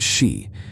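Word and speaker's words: 四: The number 4 is pronounced shi, which is a homophone for the word death.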